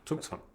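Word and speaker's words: Zugzwang: How is the correct German? Tukong. Tukang. And you say in English you say zuk. Zukong.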